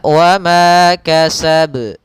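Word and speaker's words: وما كسب: Maka wa ma kasab, tapi tidak ada tambahan hamzahnya, dia wa ma kasab.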